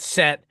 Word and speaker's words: Set: This was a new discovery, but uh um Horus and you the sate, they pronounce it set.